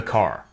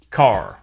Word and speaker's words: car: Notice that the final R sound is not pronounced in British English. Father ends in a simple schwa vowel, like father. And in car, the vowel sound is lengthened in place of the R sound. Car.